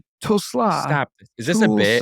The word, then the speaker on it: Tulsa: Tesla. Tulsa.